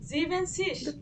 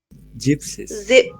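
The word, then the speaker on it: siebzig: এই যে জিভেন, জিভেন, জিভেন্সিস, জিভেন্সিস, হ্যাঁ জিভেন্সিস, আসলে জিভেন্সিস, না না, জিভেন এনটা বাদ যাবে, তাহলে কি হবে? জিপসিস।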